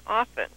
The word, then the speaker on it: often: we were taught that one does not pronounce the T and often and I still don't